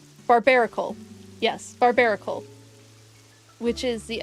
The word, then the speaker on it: Barbaracle: Our next one is It took me so long to pronounce this Pokemon name. Give me a second. Barbaracle. Barbaracle.